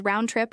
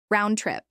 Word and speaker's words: round trip: Round trip. This is pronounced with equal stress on both words.